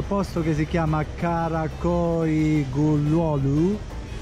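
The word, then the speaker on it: Güllüoğlu: Entriamo in questo posto che si chiama Karakoy Gulolu. Quella G finale non si pronuncia, non si dovrebbe pronunciare. Quindi Gulolu, something like that.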